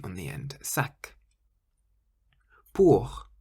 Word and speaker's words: pour: Pour. Pour means for, and you can hear the R on the end. The R on the end of a word in French sounds almost like a harsh H sound.